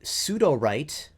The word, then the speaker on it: Sudowrite: I'm currently a subscriber to both Sudowrite, which is SUDOWRITE, and Writer, which is spelled RYTER.